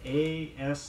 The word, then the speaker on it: asthma: Don't bother to sound the TH sound in asthma, spelled A-S-T-H-M-A.